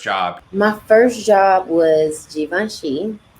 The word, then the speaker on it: Givenchy: my first job was givenchy at the time i was saying javinci i did not know how to say it i remember seeing it